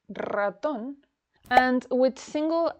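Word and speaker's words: ratón: Raton. Raton. Oho. The double er is pronounced with a rolled R. But some words with a single R are also pronounced with the roll R.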